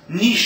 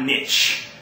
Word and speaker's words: niche: little niche of influence niche is the correct pronunciation by the way it's not niche um oh well that's